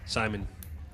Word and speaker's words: Simon: Simon. Yeah, that's how you pronounce it in Dutch. So if you spell it like that and you say it in English, then it's the same pronunciation as in Dutch.